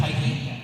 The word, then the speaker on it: Tyche: I'm going to have Gabby, which was drawn by Moon, and you're going to have, I think, is it pronounced Tyche?